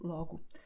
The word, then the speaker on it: logo: And that the letter O at the end of the word will be pronounced as U, like in obrigado, como, logo.